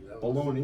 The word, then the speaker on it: bologna: Bologna. No, wait. That's what I was gonna ask. Isn't it funny how bologna is spelled with a G?